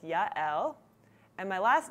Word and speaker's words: Yael: My first name is Yael, two syllables. Yael. I know it's a little bit difficult. People call me Yael, Yael, Yael, a lot of different things, but it's Yael.